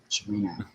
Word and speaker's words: Cimino: I've said it so much about Chimino. There's no H. Chimino. It's silent. And invisible. But, it's CH Chimino. Chimino.